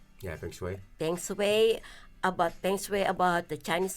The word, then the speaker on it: feng shui: So Well, in saying that, actually, I was watching the YouTube about the how do you pronounce it? Peng Shui? yeah, feng shui.